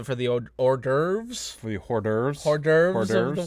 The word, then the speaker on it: hors d'oeuvres: the hors d'oeuvres we hor d'oeuvres larger orders what you pronounce the H you know that there's an H in that word know so it's a silent age I'm an English major